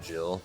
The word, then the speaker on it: Jihl: pronounced Jill.